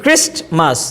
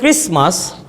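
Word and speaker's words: Christmas: যেমন উদাহরণ দিচ্ছি ক্রিস্টমাস, তাহলে এটা হবে ক্রিসমাস। Sandwich, generally we pronounce sandwich, ডটাকে আমরা উচ্চারণ করি ড, স্যান্ড স্যান্ড স্যান্ডউইচ স্যান্ডউইচ, ডটা শোনা যায়।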